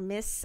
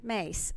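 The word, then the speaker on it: Myss: this and I think it was Carolyn Mies or miss I my SS I pronounced miss primary Thank You mace thank you for that for correcting me on that and I apologize for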